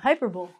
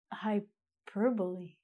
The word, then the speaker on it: hyperbole: But it's actually hyperbole. Huh? And it's the first time ever that I've looked at this English word and gone, wow, we've actually pronounced the L and the E together.